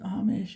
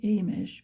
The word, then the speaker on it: Amish: So I also was always curious about the Amish, and sometimes they pronounce it Amish and sometimes they say Amish, but like many words, you can pronounce sometimes a word in different ways.